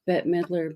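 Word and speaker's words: Bette Midler: I guess it's both it's either Betty or bet but I know like they said Betty Davis but I think they pronounce bet Midler bet mler instead of Betty but they're they're they're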